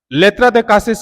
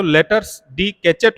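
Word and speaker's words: lettres de cachet: लेत्रा द कासिस का pronunciation होगा French language में। हालांकि हम लोग इसका प्रोनाउंसिएशन करते हैं तो लेटर्स डी कैचेट होता है, लेकिन फ्रांसीसी या फ्रेंच लैंग्वेज में इसको बोलते हैं लेत्रा द कासे। ये एक ऐसा लेटर होता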